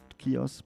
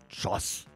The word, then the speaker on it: Cioz: cheers kiosk it's c-i-o-z you would pronounce it kiosk but it's pronounced josh and we have colpino